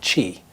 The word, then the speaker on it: qi: on the idea of something called chi it's spelled q-i or c-h-i depending on what book you read and chi is the